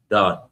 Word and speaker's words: Dan: Dan or Don. Or what is it? Done. Don. Yeah, they said say it like you We read in peace, right?